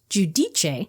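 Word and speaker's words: Giudice: the same Reunion where Teresa used to be giuce and now it's jich right cuz in the first couple of Seasons she pronounced it as G dice she did when she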